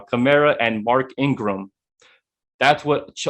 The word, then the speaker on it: Kamara: is similar, the closest thing to Kamara, not Kamara. I know how to pronounce it now. Kamara and Mark Ingram.